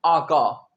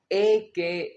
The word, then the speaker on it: AKA: बहुत से स्टूडेंट्स कहते हैं आका, एका। जी आप याद रखें, अगर आपको ये इंग्लिश न्यूज़पेपर में दिख जाए तो आपने इसे AKA ही प्रोनाउंस करना है।